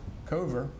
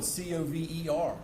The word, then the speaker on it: Kover: the deputy city manager Kover is how it's pronounced it's spelled CoV ER and there's not a one of us to senior staff that haven't heard him called cover cover cover but I've